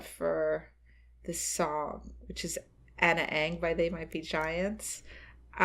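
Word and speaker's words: Ana Ng: this song, which is Anna Ang by They Might Be Giants. She never got it. So eventually I changed how I pronounce it. And, and I had to say Anna Ng.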